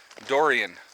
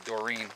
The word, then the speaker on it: Dorian: day so anyway and I'm actually gonna say it right this time durian hurricane durian always getting on me because I kept calling to Doreen but you know what